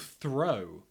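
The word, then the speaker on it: Throh: The I think it's called something like I think it's called Throw, but it's spelled like T H R O H.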